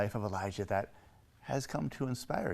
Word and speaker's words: Elijah: familiar with these characters there's Elijah with a J and Elisha with an sh um and I will